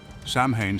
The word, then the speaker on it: Samhain: this transition was marked by a festival called samine pronounced sa samhan celebrated on October 31st was the most important